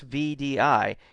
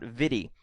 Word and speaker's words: VDI: what it stands for vdi is pronounced as an initialism not as a word so it's vdi it's not vidy um most people consider